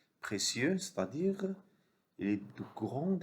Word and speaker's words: précieux: I se prononce IE. Comme des cieux, des lieux. Précieux, c'est-à-dire il est de grande importance.